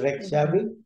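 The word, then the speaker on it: Reykjavík: around the capital of the country which is red Chevy as as it is pronounced is the pronunciation but the spelling is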